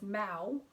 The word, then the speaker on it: Mau: that was known as Mau, which is spelled M-A-U, which I find really interesting, because that's of course like very similar to meow, which is said to be like, you know, the sound that cats make.